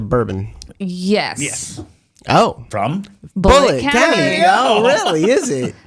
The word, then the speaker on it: Bullitt: yeah the Beast of bullet County it's very buet bullet number one with a bullet the beast but it's not spelled like bullet how you would think no an